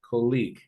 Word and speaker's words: colleague: one guys the pronunciation colleague colleague colleague yeah I noticed that sometimes or well most of you confused that one with with college right like this but